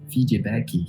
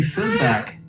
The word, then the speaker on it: feedback: in brazil yeah and people say fiji becky yeah yeah that's kind of pronunciation and the pronunciation is wrong right yeah and if you say feedback and you ask it